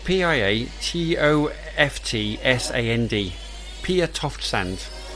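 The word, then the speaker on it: Piatoftsand: harlequin and it's by pierre soft no pierre toft sand i think that's how you say it p-i-a-t-o-f-t-s-a-n-d pia toft sand like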